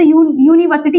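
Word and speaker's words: university: बट यू का अगर हम प्रोनाउंसिएशन देखें तो यूनिवर्सिटी यू से आ रहा है, या से।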